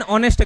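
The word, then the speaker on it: honest: तो ये ही इज अ हॉनेस्ट गाय की एन ऑनेस्ट गाय, क्यों, क्योंकि उसको प्रोनाउंस करते क्या, ऑनेस्ट, ओ आता है, ठीक है।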